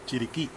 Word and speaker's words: Chiriquí: And we are located in, correct my pronunciation, the Gulf of Chiriqui? Chiriquí.